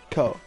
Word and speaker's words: Ko: Not Koi. I know it's not Koi. I'm just not Ko. Ko. There we go. I'm saying it right. Ko. Ko. Okay, I got it now. It's Ko.